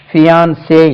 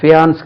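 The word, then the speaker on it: fiancé: வாழ்க்கையில அப்போ would be ஹஸ்பண்டுக்கு ஃபியான்சே உச்சரிப்பாங்க ஃபியான்ஸ் கிடையாது இது பைனான்ஸ் இல்லாமே ஃபியான்சே ஆக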